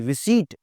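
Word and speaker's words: receipt: रिसीट, पी की आवाज़ नहीं आती।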